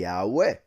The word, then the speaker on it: Yahweh: the I, the A, the U, and the E making it, for instance, if we were to read that in Spanish, pronunciation of those letters would be Yahweh. That simple, Yahweh.